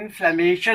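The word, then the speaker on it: inflammation: जो इन्फ्लामेशन INFLAMATION इन्फ्लामेशन ऑफ, जो ITF का मतलब होता है इन्फ्लामेशन of, correct pronunciation is इन्फ्लामेशन ऑफ। तो यानी पर्टिकुलर ऑर्गन में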